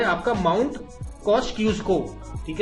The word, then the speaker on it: Kosciuszko: अगर आपसे पूछे मेनलैंड ऑस्ट्रेलिया का सबसे ऊंचा पीक कौन सा है, मेनलैंड, ठीक है, वो है आपका माउंट कॉस्क्यूस्को, ठीक है, जो भी प्रोनाउंस करते हैं इसको देख लीजिए, आपका स्पेलिंग यही है, KOSCIUSZKO।